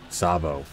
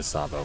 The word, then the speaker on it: Tsavo: special kind of power-ups Sabo not to Tsavo Tsavo whoa and they was gonna pronounce that wrong all right let's get